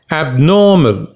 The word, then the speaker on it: abnormal: word is abnormal pronunciation abnormal the second syllable is stressed abnormal what does it